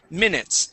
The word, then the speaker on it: minutes: we use in English instead of saying minutes and pronouncing an e sound we want to say m minutes try that minutes good yes that is what's called the short eye sound okay uh nice job